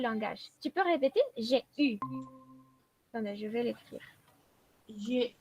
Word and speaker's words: eu: Esa EU es una de las excepciones del francés. No se pronuncia como E, como R, digamos, directamente U. D'accord?